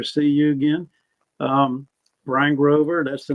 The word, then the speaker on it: Bryn Grover: having me pleasure to see you again um Brian Grover that's the name I know it looks weird